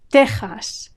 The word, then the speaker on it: Texas: Texas, Texas. Like Mexico, it has a G sound spelled with an X.